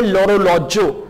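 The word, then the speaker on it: l'orologio: हो रहा है, तो यहां पे ईल जो है वो एल एपोस्ट्रोफी बन जाएगा, हम इसे प्रोनाउंस करेंगे लोरोलॉजो।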